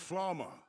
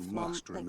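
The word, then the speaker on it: Flamme: It seems so weird to me the way they're saying Flam. Like, it sounds like Flama to me.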